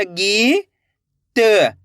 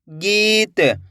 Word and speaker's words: गीत: देखो किस तरीके से, गा में बड़ी ई की मात्रा गी, गा के अंदर बड़ी ई की मात्रा है तो खींच के पढ़ेंगे। गा में बड़ी ई की मात्रा गी, तो मिलके बन जाएगा गीत। ऐसे नहीं पढ़ना गीत। अगर आप गीत पढ़ दोगे तो इस तरीके से छोटी ई की मात्रा का उच्चारण हो जाएगा।